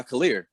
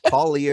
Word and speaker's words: Khalil: Yeah, C stands for, Ant used to go by Khalil Music. Okay. Oh yeah, that was his name. Yes. Yeah. I didn't even know how to say it. I thought it was like Collier.